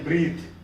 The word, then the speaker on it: breathe: When it is used as a verb, that time this pronunciation is breathe.